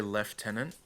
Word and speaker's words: lieutenant: It's interesting that like the British say left tenant. We're supposed to as well. Yeah, but I mean like it doesn't even the word doesn't even look like that.